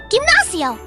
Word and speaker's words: gimnasio: Sound 2, soft G before E and I. Same as J gente, gimnasio, Argentina.